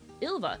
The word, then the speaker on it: Ilva: My name is pronounced uh Ilva.